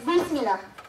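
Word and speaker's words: Brit milah: Although the spelling is using a T, it is pronounced as Bris Milah. Sounds familiar, right? It sounds more like Bismillah.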